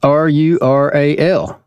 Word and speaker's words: rural: Like, what do you do with that R stuck in the middle? Rural? Yeah. Rural? Rural. Yeah. Well, I guess that R is attached to the first syllable, and I guess you don't want to make it very strong.